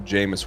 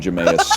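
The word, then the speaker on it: Jameis: a quarterback that goes by the name of Jamus Winston. Okay. I'm realizing now that's how his his name is pronounced. What did you think it was? Jas. I've been calling him Jus for three years.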